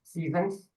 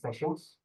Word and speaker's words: sessions: mispronounced words um the word sessions has been pronounced as Seasons so it should be sessions and then the word honor which is silent